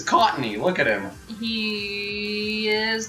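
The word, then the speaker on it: Cottonee: How do you pronounce it? Cottony. Oh, Cottony.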